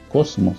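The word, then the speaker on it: κόσμος: la palabra ahí es la palabra griega que más o menos se pronuncia Cosmos Entonces ya cuando hablamos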